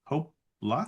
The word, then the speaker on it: Hopla: Hopla. Yes, it's Hopla. Hopla. Okay. Hopla. Like hoopla, but hopla.